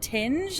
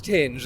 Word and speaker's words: Tinge: And did you find out how to pronounce is it Tinge or is it Ting? It's Tinge. A band called Tinge.